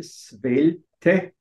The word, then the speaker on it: Svelte: möge bitte die Seite swelte es wird so mit swelt ausgesprochen aber schreiben m mit